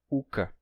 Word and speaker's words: oca: Por isso, por essa ausência de o, uma palavra como oca, que significa casa, se pronuncia uca.